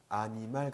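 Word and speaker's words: animal: 자음 뒤에 모음이 올 때에는 그 자음은 그 뒤에 오는 모음에 쓰인다는 거예요. 그래서 보시면은 아니말 같은 경우는 아니말. 아, N이 있으니까 엉이라고 발음해야 되잖아요. 그렇죠? 엉. 그런데 거기에 있는 그 N이 그 뒤에 오는 모음, 즉 이에 쓰인다는 거예요. 그래서 아니말 된다는 거예요. 아하고 음절을 끊고 그 다음에 니 끊고 말 이렇게 한다는 거예요.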